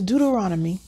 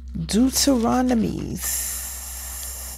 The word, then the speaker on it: Deuteronomy: turn your bibles to deuteronomy huh chapter eight i'm going to read out of the king james version you choose the version that works best for you deuteronomies that's not how you say it okay all the commandments